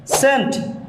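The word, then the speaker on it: scene: এর উচ্চারণ হয়নি সেন্ট সিন এখানে সি এর উচ্চারণ হয়নি এস এর উচ্চারণ হয়েছে সিন মিনস দৃশ্য সাইন্স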